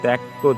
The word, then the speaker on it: ত্যক্ত: তো এটিকে যদি আমরা বিভাজন করি, তাহলে পেয়ে যাচ্ছি ক হসন্ত যোগ কি ত, অর্থাৎ দেখো ত্যক্ত থেকে আমরা পেয়ে যাচ্ছি তৈয়ক্ত।